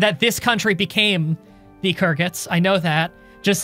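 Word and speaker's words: Khuzait: became um the nords the h is silent and in carrots well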